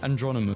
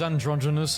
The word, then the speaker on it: androgynous: face was designed to be andronymous the words androgynous I said it wrong okay and I think